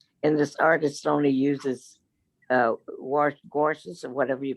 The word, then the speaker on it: gouache: Oh, that's so And this artist only uses gouaches or whatever you pronounce it for his watercolors. Actually, this isn't watercolor. It's a Gauche.